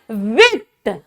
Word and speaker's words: huit: उसके बाद हो गया आपका एट को हम लोग बोलते हैं बेटा विथ, HUIT होता है लेकिन इसकी प्रोनाउंसिएशन होती है विथ, विथ, नफ, दिस, ऑन्स,